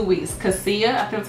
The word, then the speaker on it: cassia: Cassia, I think that's how you pronounce it.